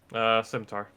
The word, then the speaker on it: scimitar: It's a sim for a scimitar.